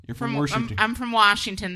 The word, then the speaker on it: Washington: I'm from Washington. There ain't no R in it.